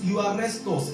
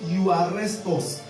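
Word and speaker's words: εὐάρεστος: Euarestos. It is spelled E-U-A-R-U-E-S-T-O-S. E-U-A-R-U-E-S-T-O-S. It's pronounced euarestos, meaning euarestos. That is as if you want to say you arrest us.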